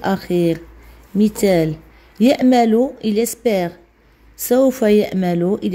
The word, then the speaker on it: espère: de médecine dans il espère le e on le prononce pas qui à la fin